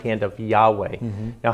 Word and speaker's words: Yahweh: Church testify that that the name was pronounced Yahweh yes and this is